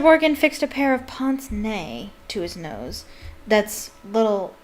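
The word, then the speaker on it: pince-nez: That's how the French pronounce it. Pince nez. I'll just say it that way. Mr. Borgin fixed a pair of pince nez to his nose.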